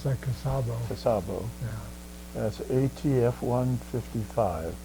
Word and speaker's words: Cusabo: Now, the back of your discharge document says that you were on the USS Cusabo, C-U-S-A-B-O. Yeah, they pronounce that Cusabo.